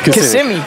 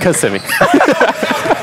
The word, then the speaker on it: Kissimmee: How do you say it? Kissimmee. Right. Like Kissimmee. Kissimmee. Yeah. Right. Yeah, it's not Kissimmee.